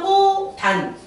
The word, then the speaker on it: 꽃안: 치읓은 발음하면 어떻게 되죠? 치읓은 디귿이 되지. 뭐 때문에? 음절의 끝소리 규칙. 음절의 끝소리 제축이 일어나는 거고 그 다음에 이제 여기가 비어있는 거야. 초성의 이응은 없는 거야. 그러니까 쉽게 넘어가. 그래서 얘는 어떻게 발음이 되는 거야? 연음이 그 다음에 일어나. 그래서 꼬단.